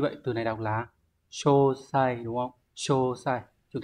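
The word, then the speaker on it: 詳細: Như vậy từ này đọc là Chô sai đúng không?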